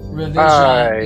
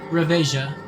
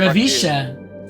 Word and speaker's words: reveja: Revisha. Jesus. Well, how do you spell it? Reveja. Oh, reveja. Reveja. Oh, why did I think the J was pronounced hard?